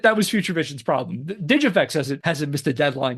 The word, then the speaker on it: DigiFX: as digifix software spelled D G FX with pronounced digifix and I got that from some promotional videos